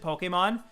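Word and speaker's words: Pokémon: It is, like, you're supposed to pronounce it Pokemon. There's the reason, there's a little, like, accent above it.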